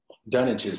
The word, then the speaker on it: Dunwich: Dunwich is not how I would have said that word.